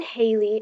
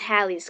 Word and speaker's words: Halley's: Ridpath an amateur astronomer telephoned 36 Halle families and asked them how they pronounced their name to said Haley and two others said Holly the rest 89% of a sample used the traditional pronunciation that is also used by all astronomers engaged in climate study which is Halley's Comet before I'd been Halley's